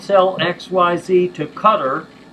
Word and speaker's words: Qatar: Or, we will not sell XYZ to Qatar, pronounced Qatar by some folks, because we don't want the munitions to be transferred to another party, i.e.